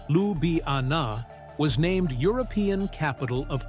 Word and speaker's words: Ljubljana: Slovenia is the one with the stunning lake bled, the one that's more than 60% forest and the one where Lj Ljubljana, pronounced Lubana, was named European capital of culture.